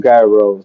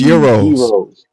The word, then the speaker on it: gyros: Jay said, "I love Gyros." Now, am I saying it wrong? Is it Gyros? It's Euros. Euros. Yeah. Euros.